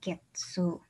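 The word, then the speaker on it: 月: Dibacanya Getsu.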